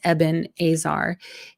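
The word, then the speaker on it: אבן העזר: all right so the the word is ebena AER and again it might be a name that you are um maybe accustomed to pronouncing as ebenesar or eaner um but in the Hebrew it's two words eban Azar and in the U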